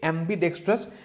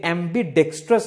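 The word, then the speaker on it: ambidextrous: उसको हम लोग बोलेंगे एम्बीडेक्स्ट्रस। ये आपका एडजेक्टिव हो जाएगा, ठीक है। इसका आप स्पेलिंग को नोट कीजिएगा, एम्बीडेक्स्ट्रस है ये, एम्बीडेक्स्टरस नहीं है, ठीक है। द वर्ड इज एम्बीडेक्स्ट्रस, मतलब डेक्स्टरस नहीं है, ओके, एम्बीडेक्स्ट्रस है।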